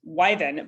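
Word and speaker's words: wyvern: by this time in history had the liven wyven i looked up how to say it just now and it's pronounced wyven but it's spelled w-y-v-e-r-n anyway this is another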